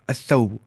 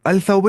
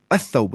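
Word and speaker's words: الثوب: असौबु, अलसौबु नहीं, असौबु, लाम पढ़ना ही नहीं, लाम साइलेंट है, कहाँ पे, उर्फ शमसिया के अंदर।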